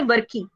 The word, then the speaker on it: WRKY: और दूसरा है WRKY, और इसको हम प्रोनाउंस करेंगे वर्की, ठीक है। वर्की मतलब है तो नहीं वर्की, स्पेलिंग तो वो नहीं है, लेकिन आप उसको वर्की प्रोनाउंस करेंगे।